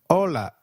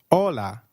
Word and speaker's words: hola: Hi is called hola in Spanish. Can you try that please? Hola. Did you get that right? Ola. Remember, H is always silent in Spanish. We do not pronounce it.